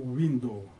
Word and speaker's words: window: И когда мы говорим слово «window», надо произносить звук «у», а не «в».